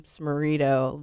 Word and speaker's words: Smarito: I said, last name Smarito rhymes with burrito.